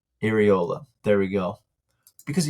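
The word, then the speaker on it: Iraola: I'm not going to say his name because I can never pronounce it. Areola. Iriola.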